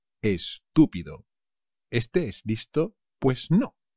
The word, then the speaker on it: estúpido: estupendo estupendo Stupid estupido cuidado con el acento chavales estúpido este es listo pues